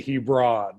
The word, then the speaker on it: Hebron: So I know all about Lakewood Hebron softball. Big tradition, big rivalry there. It's just Hebron. Oh, whatever. That state tournament, do they say Hebron? That's how we pronounce it up here.